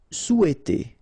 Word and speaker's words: souhaiter: Souhaiter. So remember, in French we don't pronounce this H, okay? It doesn't phonetically exist here, so you've got sou, after that you've got e, and then t. Souhaiter.